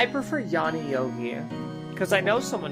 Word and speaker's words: Yoni: Yoni pronounced Yanni, Sanskrit for the female organ of generation.